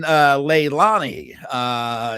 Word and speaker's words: Leilani: Also, Dave is saying Leilani is how it's pronounced.